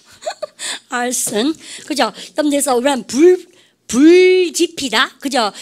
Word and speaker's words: arson: 그러니까 집 알선 이런 것처럼 이랬습니까? arson.